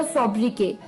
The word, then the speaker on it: sobriquet: तो दोस्तों, जो छठा वर्ड था शाम का वो था सोब्रिके। सोब्रिके, SOBRIQUET, सोब्रिके। सोब्रिके में जो टी है वो साइलेंट है, SOBRIQUET, तो जो अंत में टी लगा है वो साइलेंट है, सोब्रिके, ठीक है।